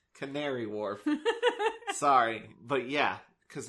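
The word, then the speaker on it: Canary Wharf: again no okay tary I I just saw the word and pronounced it as I saw it it's Canary Warf sorry but yeah because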